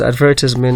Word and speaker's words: advertisement: so first of all it's also pronounced advertisement or advertisement so both pronunciations are correct if anyone say what